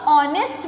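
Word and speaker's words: honest: क्योंकि ये स्टार्ट तो कॉन्सोनेंट से हो रहा है, बट जब हम इसे प्रोनाउंस करते हैं, जब हम बोलते हैं तो कैसे बोलते हैं? ऑनेस्ट मैन, यानी इसकी स्टार्टिंग में साउंड किसका आ रहा है? ओ का।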